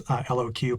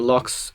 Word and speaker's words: LOQ: I mean, I think the locks are great. I think we used to pronounce those LOQ, but it's a lock.